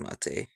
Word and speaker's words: mate: does it doesn't matter because it was named after the drink yes so that should be pronounced mate yeah and it yeah